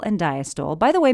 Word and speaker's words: diastole: Systole and diastole. By the way, many people pronounce the terminal E, so you'll hear it as systole and diastole.